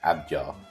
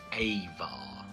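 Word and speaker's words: ajvar: ingredients in this is abjar ajar hello now I'm home and editing I have worked out that the actual pronunciation is avar so every time I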